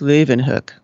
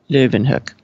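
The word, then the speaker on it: Leeuwenhoek: it in any case it should not be a germanized version like what's that kathy i said it more like leaven hook and he didn't like that living hook that was uttered by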